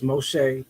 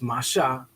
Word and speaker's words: Moshe: Moses or right here it says Moshe but it's Masha we went through this